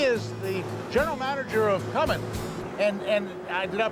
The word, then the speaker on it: Cummins: He is the general manager of Cummins. And did I pronounce that right? That's correct. Cummins, no G. No G in Cummins.